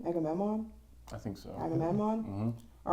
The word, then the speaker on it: Agamemnon: Agamemnon.